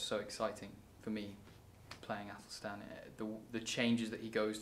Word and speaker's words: Athelstan: Athelstan.